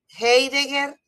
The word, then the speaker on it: Heidegger: Le pronuncio así para que lo escriban. Heidegger.